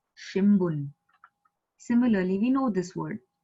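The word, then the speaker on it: 新聞: pronounce it as So shimbun. Haine? Babi bu bebo. So that bu has come. Hence shimbun. So it is not shinbun, it is shimbun.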